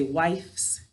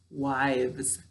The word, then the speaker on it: wives: sound here instead of we don't say wife's it's wives all right so when we